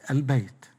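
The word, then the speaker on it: البيت: this lamb is pronounced for example bait when we add to it alif lam it becomes albeit whereas the other category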